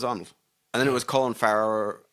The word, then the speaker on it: Colin Farrell: All right, you look up Corin Farrell. Corin Farrell. Colin Farrell. Corin Farrell. Oh boy. Oh, it said it right there. Colin Farrell.